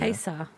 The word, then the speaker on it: Haysi: Okay, Tacie knows how to pronounce this, but Haysi. Just how would you pronounce that? That is a town in Virginia. Haysi.